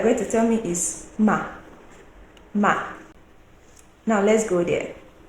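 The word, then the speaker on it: 妈: to tell me is ma. Ma. Now let's go there. We have MA with a flat tone. What can you see as the meaning? We pronounce it as ma, ma, mama, mother.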